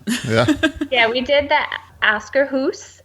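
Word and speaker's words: Akershus: Yeah, we did the Askerhus, and I'm Scandinavian, so I can say it correctly.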